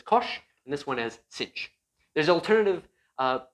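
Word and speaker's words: sinh: we add kosh and cinch together so i just used an alternative pronunciation we can call this as we can call this guy kosh and we can call this cinch so that is just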